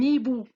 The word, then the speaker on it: hibou: Nous avons un hibou, ou bien l'hibou. Regardez, H aussi est muette.